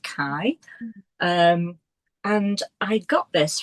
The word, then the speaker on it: Kay: of the Moon by Kai Neielen. So I always thought it was pronounced K Nielson but apparently because he's Danish it's pronounced Kai.